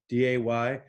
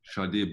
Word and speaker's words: Sade: There was a sticker that said pronounced Sade, Sharday, which apparently after all these years is not correct. It's Sade, right? My second, No R. Sharday.